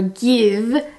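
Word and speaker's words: GXVE: my gwen stefani g x v e or give that's how it's pronounced although it's spelled this way products except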